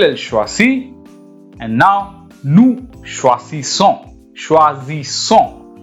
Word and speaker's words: choisissons: Je choisis, tu choisis, il, elle choisit, and now nous choisissons. Choisissons. You can see here, there is single S when I am pronouncing choisi, and then double S is coming, so son. So choisissons, vous choisissez, il, elle choisissent.